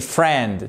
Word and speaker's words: friend: Donc friend, on prononce pas le I. Attention, c'est pas friend, c'est friend. To come, cross.